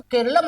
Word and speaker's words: केरलम: जी जान पाते भैया केरल शब्द का अगर आप मलयालम में उच्चारण करेंगे तो केरलम ऑटोमेटिक है ही है उसमें कौन सा अभूतपूर्व